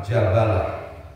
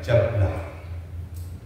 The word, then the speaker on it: Jabalah: Adapun cara membacanya wahiya bifathil jim wal ba maan dengan memfathah jim dan ba sekaligus. Namun tidak sedikit yang membaca sukun bnya jablah rqibatul bahro.